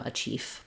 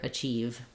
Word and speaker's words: achieve: the word achieve and make sure that you have the sound it's voiced at the end there don't let it become a chief but rather achieve um great word thank